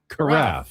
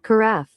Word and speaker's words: carafe: Carffe. There it is. Carffe. Nailed it. Like it rhymes with giraffe.